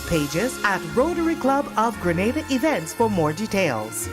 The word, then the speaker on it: Grenada: So, today, like we German say, we are in Granada, but I heard in English it's called Grenada. Say it right. Grenada.